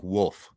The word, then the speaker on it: Wolf: No, like the like the dog Wolf. Wolf. No, you No, you were saying it wrong before, too. Dustin Wolf.